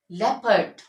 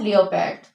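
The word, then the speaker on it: leopard: people people country country लेपर्ड इ नॉट लियो पैड लेपर्ड favourite favourite in सब में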